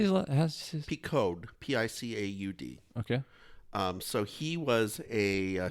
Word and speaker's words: Picaud: How do you say his Picaud, Picaud.